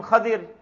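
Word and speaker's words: Khidr: hiv some call him hither some call him khadir can pronounce it both ways so hidden he's like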